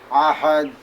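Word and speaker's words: أحد: আমি তোমা বিনে ঘোর সংকটে না দেখি লাম ইয়ালিদ ওয়ালাম ইউলাদ ওয়ালাম ইয়াকুল লাহু কুফুয়ান আহাদ। আহাদ এইভাবে উচ্চারণ করবা।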